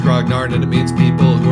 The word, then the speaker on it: grognard: of Napoleon water campaign but in English it's pronounced grognard and it means people who are very into